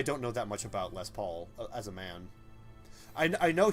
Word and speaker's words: Les Paul: that's a really sweet Les Paul I'm sorry lay Paul he pronounced it know what because I was hoping